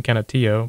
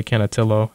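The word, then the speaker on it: Canutillo: think that's the technically technically the Hispanic pronunciation cantio but I mean some people might say cantillo whatever it doesn't matter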